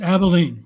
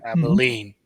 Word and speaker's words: Abilene: bring us to um tell me if I'm pronouncing the name of that town Abilene Kansas yes Abilene right Abilene um the famous Cow Town as it was